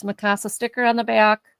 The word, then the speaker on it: Mikasa: No, how do you say this? Wait, can I say this? Mikasa. I did say it right. Oh, I said it right.